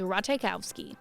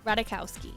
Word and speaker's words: Ratajkowski: The closest to the authentic way of pronouncing it is Ratajkowski, but Emily herself tends to lean towards a more angelicized pronunciation of Ratajkowski, kind of like this.